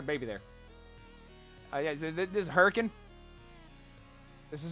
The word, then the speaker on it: Hurricane: Also known as Hurricane. You don't say Hurricane, it's Hurricane. There's a baby. Why is there a baby there? Yeah, this is Hurricane.